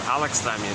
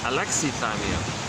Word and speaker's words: alexithymia: I've been mispronouncing it. I was saying before Alexithymia. No, technically it's Alexithymia. Gotta get used to that.